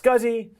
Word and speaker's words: SCSI: jump down over here to scuzzy scuzzy SCSI pronounced scuzzy small computer system interface it's another an standard